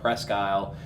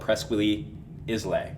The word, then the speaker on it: Presque Isle: at a place called presque isle wesleyan church don't try to google it because it's spelled preschooly islay okay you're never going to find it that sounds